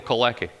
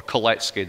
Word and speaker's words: Kalecki: from Poland called Mikhail Kalecki, or Kalecki, depending on how you want to pronounce it.